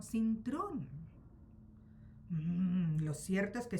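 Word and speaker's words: Cintrón: Tampoco se pronuncia así el apellido, falta una R. No es Sintón, sino Sintron.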